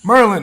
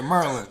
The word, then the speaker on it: Maryland: Merlin is what they would say. You know what I mean? Yeah. Yeah, but go on. Hell yeah. You feel me? Merlin. They say Merlin. Merlin, yeah. Yeah, Merlin. they say it like it's one syllable.